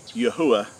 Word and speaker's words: Yahuah: the creator which is yahuwah which is which is the correct way to pronounce the four hebrew letters of our creator's name and it's been substituted